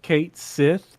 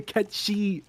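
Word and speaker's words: Cait Sith: so if if you're if you're localizing don't just go with Kate Sith because that's what people said when they were 10 yeah that's such a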